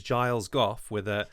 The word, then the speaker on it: Giles Goff: Speaking as somebody whose name is Giles Goff, that starts off with a soft G and ends with a hard G, I'm used to the